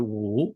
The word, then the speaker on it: 五: 一夫一妻、一心一意。五 The Chinese character 五 meaning 5 sounds the same as OO in good and book in English.